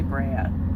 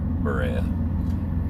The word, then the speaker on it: Berea: We'll be heading to Berea in the morning. Is that how you say it? I think so. I keep wanting to say Brea. Berea.